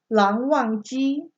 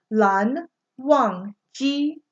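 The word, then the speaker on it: Lan Wangji: And then the second syllable or their given name is only one syllable long. So Lan Zan. Okay? But his more formal name is Lan Wang Ji. Lang Wang Ji. Lang. Lan Wang Ji.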